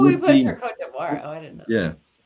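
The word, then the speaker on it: Côte d'Ivoire: for Cote d'Ivoire.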